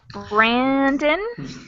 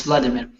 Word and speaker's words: Vladimir: Brandon? Brandon? No, it's Vladimir. Vladimir. Okay, Hello, that yes, was absolutely Vladimir.